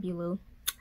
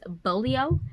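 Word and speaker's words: Beaulieu: I've been saying Bradley P. Beulah. It's not Beulah. And I'm probably going to butcher it again. I believe it's Bolio is how you pronounce it.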